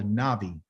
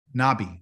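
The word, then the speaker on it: נביא: go nah bye well in hebrew there is no letter v okay i left it in its original letter which is a b it just pronounces a v it's called a navi okay navi nabi if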